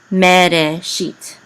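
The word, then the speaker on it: מֵרֵאשִׁית: So, me, and this is resh with sere, it says re. This aleph is silent, me, re. And this is a shin with a chirik, and the yud and the tav together will be sheet, okay?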